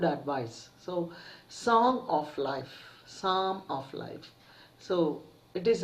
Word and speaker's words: Psalm: song of life now p is silent here and it is pronounced